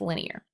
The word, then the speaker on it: linear: line so that's why that word line is in there but it's pronounced linear to graph a linear